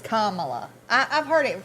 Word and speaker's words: Kamala: I think it's Kamala. I've heard it pronounced a lot of different ways.